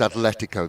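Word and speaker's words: Atlético: car again terrible trouble if there's no h in athletics it is spelled that way on purpose it is spanish so it's atletico there's no hate i get in massive trouble for pronouncing the h which isn't there but this is a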